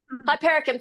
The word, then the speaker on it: Hypericum: organic calendula petals and how do you say it? Hypericum? Hypericum, thank you for the posh words.